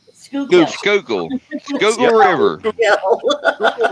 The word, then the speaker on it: Schuylkill: I can promise you that, and it's the one that says, "How do you say your river Scully Kill?" Yeah, Skookle. Schuylkill.